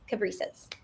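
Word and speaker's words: Cabrices: Cab, like a taxi cab. Rice, which I love to eat, and then an S at the end. So Cab, Rice, S, Caprices.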